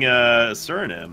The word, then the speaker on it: Suriname: Baer representing Suriname, by the way.